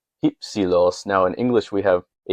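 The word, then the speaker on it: ὑψηλός: And so if we're going with Erasmian pronunciation, we'd say hypsilos.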